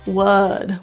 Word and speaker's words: would: you've got that sound would the vowel in here is an Epsilon sound this is very neutral so instead of rounding your lips relax them uh wood wood the L is silent there feel your tongue tip